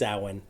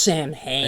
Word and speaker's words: Samhain: the Druids thought of Samhain which I recently found out was pronounced Tywin after all right I always heard it pronounced sin hey you know write it